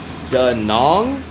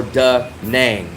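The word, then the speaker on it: Đà Nẵng: Is it called da nong or d nang? Dang. Oh, you say dang. Okay. Maybe I'm wrong. So is that how sometime a lot of the foreigners people they really spell it like there is like a dang but the Vietnamese people call. So is it nang or nong? N or nong is same.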